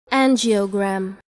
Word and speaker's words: angiogram: of a blood vessel now let's see the pronunciation angiogram angiogram the next term is mammogram again using gram